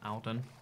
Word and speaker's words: Alden: mainly on the plane why does everyone pronounce my name as Aiden not Alden there too many people